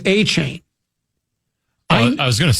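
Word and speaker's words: Achane: Okay, now, now I'm being told, no, it's A-Chain.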